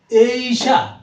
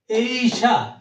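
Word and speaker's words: Asia: এস আই এশিয়া আমরা বলি এশিয়া আর সঠিক উচ্চারণ ইংলিশে বলতে হবে এইশা এইশা এরপরে আছে এ ইজ মানে বয়স আমরা এইচ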